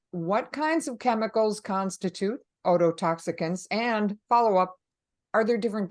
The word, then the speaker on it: ototoxicant: on a unique occupational exposure challenge am I pronouncing that word correctly yes it's autot toxicant yes well it it is well known that